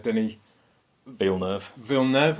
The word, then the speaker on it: Denis Villeneuve: Obviously, the director, Denis Villeneuve, is that how you pronounce his name?